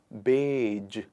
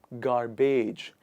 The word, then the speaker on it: garbage: but the trick in the pronunciation of this word is first of all you remove the ra and then after that you remove the age sound here and it becomes writing j so that you understand